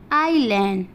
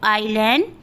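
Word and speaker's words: island: अगर आई और एल के बीच में आया तो वहाँ पे एस का उच्चारण नहीं किया जाएगा।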